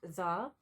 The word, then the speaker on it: tsar: illustration and we've got tsar pronounced czar riding riding on the